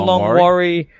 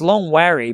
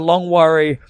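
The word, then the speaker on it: Longwarry: last night did the long worry because it's long wary but they pronounce it worry did the long worry cricket club awesome cricket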